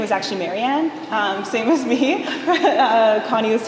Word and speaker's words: Marianne: And in Cree, there isn't, she was saying that the R isn't pronounced the same way as like people often use an L sound, and that's why it's Molian.